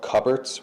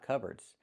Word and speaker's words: cupboard: So, the P is silent. C. Cubard.